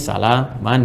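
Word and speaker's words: سلاما: Jadi bacanya panjang, ini sama dengan satu alif, ya, salama.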